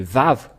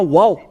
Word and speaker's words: vav: nous voyons bien que c'est V la vraie prononciation mais pas waouou c'est bien un V parce que ils ont il y a ceux qui sont ont créé le waou va W c'est un peu étonnant car même si c'est wa ça se prononce vave où que vous soyez c'est toujours le vave et nous allons revoir